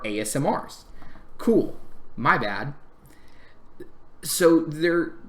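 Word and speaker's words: Aasimar: to replace the ASMR I always call them asmir until I started hearing how other people actually pronounce their names and I felt really dumb because they are not ass smears they are asmrs cool my bad so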